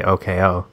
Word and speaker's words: Oko: It has to be Oko, but that people just have to know to say OKO. Because it's very more like hipster of you. OK dash OH. I want people to know to say that. But it's spelled Oko. OKO.